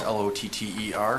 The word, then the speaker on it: Lotter: Mayor, members of the council, I'm Lotter. That's Lotter, spelled like lottery minus the Y.